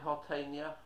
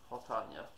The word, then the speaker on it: Hotania: Hi, Hotania. Is it Hotania? I think it's Hotania. Said it right the first time, okay. Hot on ya.